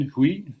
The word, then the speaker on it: Hui: And in 2014, she founded the Compassion Hui. Am I pronouncing that correctly? Hui, yeah.